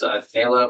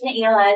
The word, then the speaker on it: Naila: So next up we have, sorry if I mispronounced these names, Nayla Rovinsky. Did I get it right? It's Naila, it's a hard one.